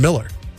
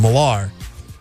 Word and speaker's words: Millar: But then people would say his name for when he was playing baseball would say Kevin Miller. But then I've heard him correcting people as like, no, it's Kevin Millar.